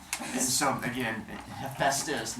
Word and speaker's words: Hephaestus: Hephaestus. Not hepatitis. Everyone is Hey, Sometimes the class was Stop. arguing about it, and then you said Hephaestus, and no one said it right. PH. Not hepatitis.